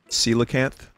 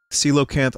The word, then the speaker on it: Coelacanth: Coelacanth?